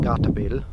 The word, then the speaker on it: Gatebil: This year on the same weekend there is an event in Norway called, it's pronounced Gatebil because it's Norwegian.